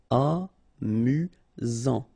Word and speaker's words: amusant: Final T not pronounced. You've got only one S here between the vowels, so it's really this Z sound. Amusant.